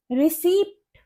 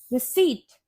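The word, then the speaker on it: receipt: Next word है हमारा रिसीप्ट, रिसीप्ट। ये रिसिप्ट नहीं होता, इसे हम बोलते हैं रिसीट, रिसीट, जिसका मतलब होता है रसीद, रिसीट।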